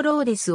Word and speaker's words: Rhodes: て活動した英語圏では名前をローズと発音するのが一般的だが本稿では以降日本でよく知られている名前のローレスを使用するミシガン州